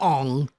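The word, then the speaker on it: Aang: Sorry, I have no idea how to pronounce that, so I'm going with Ong. No, I'm going with Ong. There's 2 A's.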